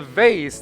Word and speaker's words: vase: A vase. That's how you pronounce it here in America.